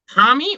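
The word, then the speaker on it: parmi: It's got to be a palmy. Exactly. It has to be because it's spelled P-A-R-M-I. Not Y, not E-Y, not O, not A. It's palmy.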